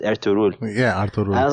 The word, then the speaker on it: Ertuğrul: they said I'm told at Turkish I think they pronounce it air to rule yeah I was like